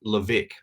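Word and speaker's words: Levesque: in the direct response marketing world called ryan levick his last name is spelled l-e-v e-s-q-u-e he has a technique called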